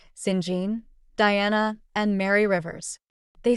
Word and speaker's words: St John: to the river's siblings St John pronounced singen Diana and Mary Rivers